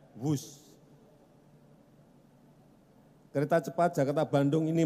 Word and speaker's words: Whoosh: sekali lagi w h o o s h tapi membacanya wus kereta cepat Jakarta Bandung